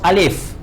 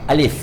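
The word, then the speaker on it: ألف: So when we pronounce alif, we pronounce with fa. We don't say alif, alif, alif. We pronounce with fa, alif.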